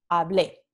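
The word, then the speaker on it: hablé: terminación es e y se pronuncia hable entonces la sílaba tónica no es es esta en la terminación la vocal tónica está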